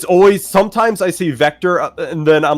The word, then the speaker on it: Vector: tried not to laugh you said Victor when it's it's I okay as I said up vector vector it's Vector I get this not now